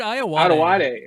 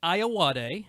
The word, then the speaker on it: Ayoade: It's Richard Ayoade. Ayoade. Sorry. No, there's I'm no a terrible pronouncer.